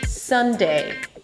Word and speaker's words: Sunday: The day is always the unstressed part, so whatever comes first, the first syllable of the days of the week, is always higher in pitch. So let's start with Sunday. Sunday, you start with an S, and then it's a cup sound, cup.